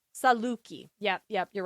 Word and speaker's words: Saluki: I say L K I Saluki. Yep. Yep. You're right. Pronunciation is not anyone's strong suit.